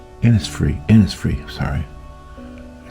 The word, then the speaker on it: Innisfree: photo from the aisle of inisbrook inis free inis free sorry I